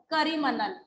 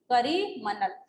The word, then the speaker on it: Karimanal: The word Coromandel is believed to have come from the way European traders in the 17th century mispronounced the name of a Tamil village called Karimanal. Karimanal.